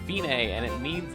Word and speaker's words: Fine: It looks like fine, but it's pronounced fine, and it means it's the end, the finish.